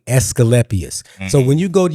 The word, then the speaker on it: Asclepius: How do you pronounce that word? I know it was called the rod of Asclepius.